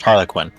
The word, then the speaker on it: Harley Quinn: It's pronounced Harlequin.